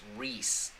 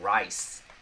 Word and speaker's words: Reese: My first name is pronounced Reese, like Reese's Peanut Butter Cups. If you were wondering, oh, Reese. I kept on saying Rice, or Riss, or Reese.